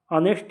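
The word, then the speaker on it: honest: ऐसे ही ऑनेस्ट, ऑनेस्ट में एच जो है कॉन्सोनेंट है, लेकिन अ से इसका प्रोनाउंसिएशन हो रहा है, यानी वॉवेल साउंड आ रही है, इसलिए ऑनेस्ट के पहले एन यूज होता है।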